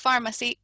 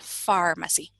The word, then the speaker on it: pharmacy: Pero como no, lo escuchamos y decimos, no es pharmacy, ya entendemos que esa PH la vamos a pronunciar como el sonido de la F en español, pharmacy.